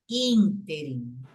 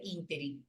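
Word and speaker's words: ínterim: louco isso mas é como é que a gente fala interim ou interim a gente fala interim mas a pronúncia correta é interim aí eu sei na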